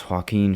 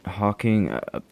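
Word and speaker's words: Joaquin: you're sick or something it's pronounced haen Phoenix not Hawking anyways um I also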